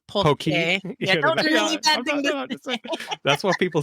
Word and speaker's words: poke: Washington state who hasn't tried a Pokeball it's pronounced usually incorrectly up there but it's poke yeah that's what people say I'm saying yeah and just say you know and whether you want to edit this Pokey actually means penis in Salmon so it's really